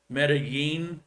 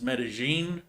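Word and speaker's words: Medellín: obvious ones are like medellin is medellin um llama or jama or yama so double l's are silent in ecuador where here it's like a a soft j sound so there's there's differences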